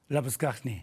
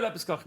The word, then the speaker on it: Labuschagne: Labuschagne. So you go Labuschagne.